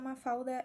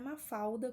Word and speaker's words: Mafalda: atenção na pronúncia porque não é mafalda como a gente fala em português tá a gente tem 1l no final de uma sílaba em português a gente acaba transformando esse l em um na oralidade a